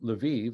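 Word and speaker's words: Lviv: of ukrainian catholic university in livia or levive as most americans would pronounce it ukraine i visited livia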